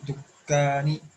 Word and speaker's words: الدكان: Okay, so lam won't be pronounced. Okay, and same is the case with dal. Ila dukkani.